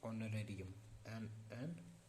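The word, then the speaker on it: honorarium: ही was promised N ऑनरेरियम, एन लगेगा क्योंकि H silent रहेगा, ऑन एन ऑनरेरियम फॉर the service.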